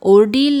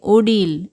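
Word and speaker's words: ordeal: इसे हम ओर्डील नहीं कहेंगे, इसे कहेंगे ओडील।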